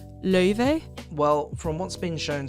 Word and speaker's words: Laufey: True, like, clean Icelandic, it's pronounced Laufey.